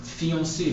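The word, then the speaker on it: fiancée: So fiancé, like fiancé in English. So for a man, fiancé, je suis fiancé. For a woman, you have to add another E, but it doesn't affect the pronunciation.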